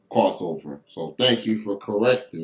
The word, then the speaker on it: Krozover: I kind of learned that the hard way, mispronouncing it a little bit earlier on the show. So I'll get my spelling bee on real quick and spell it for the people. They spelled it Krozover. So I guess the Z caught me off guard.